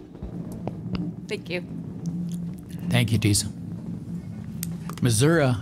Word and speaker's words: Missouri: Missouri was the right pronunciation before you changed it to Missouri.